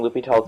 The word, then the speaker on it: L'Hôpital: video is we're going to start by defining lupital's rule and figuring out when to use it